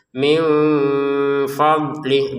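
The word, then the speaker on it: مِنْ فَضْلِهِ: Min fadli, dotnya ya jangan dipantulkan karena bukan anggota baju di toko. Ba jim dal to kof ya. Hanya 5 huruf itu yang ketika sukun dibaca pantulan. Kalau ini tidak, ya tidak termasuk. Jadi jangan dibaca min fadli, fadli, jangan. Ini tetap tidak ada pantulan sama sekali. Min fadli, seperti itu.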